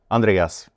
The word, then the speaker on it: Andreas: Andreas. Andreas. That's correct. Yes. Everyone had it's a mess because in in France they don't pronounce the S.